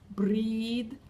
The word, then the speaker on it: breathe: until oh don't breathe breathe B breathe long sound and the th sound at the end is a strong one so it comes from here and don't breathe a